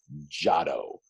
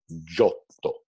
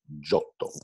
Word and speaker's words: Giotto: And as I've told you time and time again, we have a tendency to mutilate that pronunciation in English to Giotto.